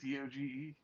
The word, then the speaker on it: DOGE: How are we pronouncing this? Doge? The Doge, or I've seen a Doggy, D-O-G-E. Yeah, Doge, the Department of Government